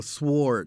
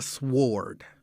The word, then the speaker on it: sword: spell subtle didn't you or sword they pronounced the w a sword i'm not all that mad at that it's not a sward i'm not mad at that it's a sword but yeah i've had